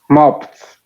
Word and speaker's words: mopped: ayudar, la ED se pronuncia como una T. Recuerden eso. Carlos, how do you pronounce this verb in past tense? Mopped. Very good, mopped.